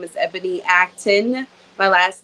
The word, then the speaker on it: Acton: bit about myself so my name is Ebony Acton my last name is spelled acting but for whatever reason everyone adds an i in there and then they add action so we're gonna go with the close times